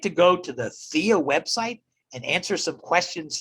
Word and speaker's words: PHEAA: Now in Pennsylvania, it's called the Pennsylvania Higher Education Assistance Authority, PHEAA, pronounced THEA.